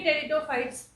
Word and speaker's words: टेरिडोफाइट्स: Thallophytes और algae, bryophytes, टेरिडोफाइट्स, P silent होता है यहाँ पे, टेरिडोफाइट्स एंड एंजियोस्पर्म्स।